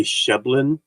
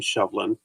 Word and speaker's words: Sibhlein: BH makes the V sound, the sh from the SEI. So even though you see this and may want to say Sheblin, it's still pronounced the same, Shovlin.